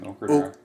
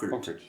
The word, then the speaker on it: Ockert: Okert. Oak. Okert.